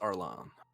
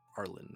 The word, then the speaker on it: Arlen: And Rix Arlan. Arlen, rather. Arlen. Kind of pronunciation I'm going with.